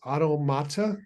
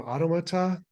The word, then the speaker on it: automata: The correct way to say it was automata or automata, but I don't like